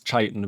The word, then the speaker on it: Chaitin: I'm going to say this as Chaitin, by the way.